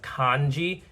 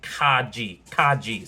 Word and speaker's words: Kaji: By the way, I think I've been pronouncing his name as Kanji. I believe it's actually Kaji.